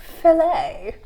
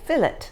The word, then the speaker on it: fillet: In the US, filet. In the UK, fillet.